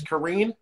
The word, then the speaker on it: Karine: So Karine, yeah. All right, but it's Karine.